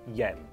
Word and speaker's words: Jens: YouTube by the way first name is pronounced like yes with an N at third place Yen yes yes yeah yeah